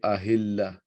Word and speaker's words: ahilla: We say ahilla. Ahilla. So this ha, ta turns into ha.